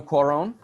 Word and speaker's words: Cuarón: Alfonso Cuarón.